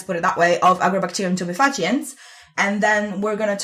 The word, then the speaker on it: Agrobacterium tumefaciens: Because in Italian it's like Agrobacterium tumefaciens. Which is probably more correct because it comes from Latin, but yeah, that's a very good point.